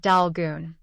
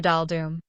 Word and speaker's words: Daldum: And notice that my name is not Dalgun. I am Mr. Daldum.